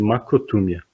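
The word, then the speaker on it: μακροθυμία: A primeira palavrinha, essa palavrinha de cima que vocês estão vendo aí, que seria algo como se a gente pronunciasse macrotúmia, que a gente hoje pode traduzir de uma maneira mais simples até do que longanimidade, como paciência.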